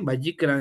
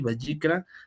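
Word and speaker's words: ויקרא: hebreo sería bicra Y entonces así se le vayikra esas letras un poco raras verdad o este del hebreo se leen así vayikra y en español se traduciría bicra como y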